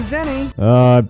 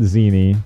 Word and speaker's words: zenny: But the prize is 10 million zenny. I've been pronouncing it all wrong. For years, I've been pronouncing it zini.